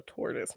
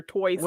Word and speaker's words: tortoise: we call it a tortoise not a choice so your toys was throwing me up a little bit you